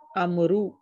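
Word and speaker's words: عمرو: the proper name Amru is written with a vowel, which is not pronounced. Amru. This is done to differentiate it from Umaru.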